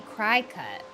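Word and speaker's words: Cricut: Do you not say it cricket like a bug? You say cry cut.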